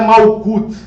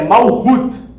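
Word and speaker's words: מלכות: Malkut, que na realidade não é Malkut, tá? As pessoas pronunciam errado, tá? O correto, a pronúncia correta é Malhut, né?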